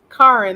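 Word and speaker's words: Charon: From how do you pronounce his name again? Charin something. Karin, that's it.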